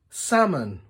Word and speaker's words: salmon: back close zip up silent L talk walk half salmon calm yolk can you think